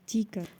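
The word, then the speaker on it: 디귿: The next one is tika, which is pronounced like between the D and T in English.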